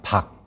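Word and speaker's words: 貊: 예족과 맥족 또는 예맥이다라고 이야기를 하는데 이 맥이라고 한자의 본래 발음은 뭐냐면 박이었다는 겁니다. 박. 밝다 할 때의 박입니다.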